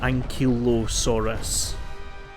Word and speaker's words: ankylosaurus: a anki and kilosaurus i need to remember kilo as in the weight and like say like i say it like ankle but then change into kilo from ankle ankylosaurus okay anyway so anyway